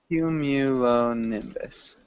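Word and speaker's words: cumulonimbus: q low L nus perfect one more time cumulon Nimbus nimus okay okay close Q cumu cumu nimus yeah n good it's a tricky one um so yeah cumulon Nimbus okay okay and really good I don't know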